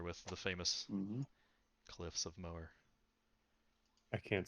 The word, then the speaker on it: Moher: all are familiar with the famous cliffs of mower i can't say i can think of melts off my head it's irish so i'm assuming that's how you say it but that's the english pronunciation yeah okay mower oh wow yeah it's literally just like that